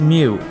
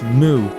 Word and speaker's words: Mu: I can't believe Moo's name is the first two letters of music and mute, but it's not pronounced MW. It's Moo.